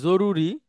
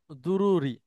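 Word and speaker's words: ضروري: আর আমরা যে বলি জরুরি, জরুরি বাংলায় একটা শব্দ ব্যবহার করি, আরবিতেও এটাকে বলা হয় দুরুরি, দদ দিয়ে। তো আমাদের এখানে সেটা বর্গীয় জ দিয়ে উচ্চারণ হয়।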